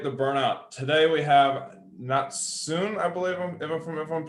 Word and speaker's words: Natsune: Today we have Natsune, I believe, if I'm pronouncing that right. I actually go by Natsune, but close enough.